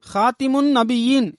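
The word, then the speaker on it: خاتم النبيين: அப்போது ஹஜ்ரத் அலி ரலியல்லாஹு அன்ஹு அவர்கள், எனது பிள்ளைகளுக்கு ஹாத்திமுன் நபியீன் என்று கற்றுக் கொடுக்காதீர்கள், மாறாக ஹாத்தமுன் நபியீன் என்று கற்றுக் கொடுங்கள் என்று கூறினார்கள். அதாவது த என்ற சொல்லிற்கு கீழே ஜேருடன் உச்சரிப்பதற்கு தி என்று உச்சரிப்பதற்கு பதிலாக த என்ற சொல்லிற்கு மேலே ஜபர் என்ற உச்சரிப்புடன் த என்று உச்சரிக்கும்படி கற்றுக் கொடுப்பதற்கு அறிவுறுத்தினார்கள்.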